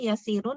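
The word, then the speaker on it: يسير: Maaf Bu Ustazah, itu tadi yasirnya yasirun atau yasir ya? Yasirun. Domatain. Oh ya, Sirun ya. Jadi Yasir bacanya.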